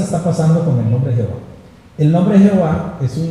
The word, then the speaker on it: Jehová: No Señor, no Yahvé, no Adonay, es Jehová. Hay un erudito eh bautista francés, eh el nombre es un poco extraño, pero algo así se pronuncia.